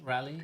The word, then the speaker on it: Raleigh: Raleigh, is it how you Raleigh. pronounce it? Raleigh, yeah.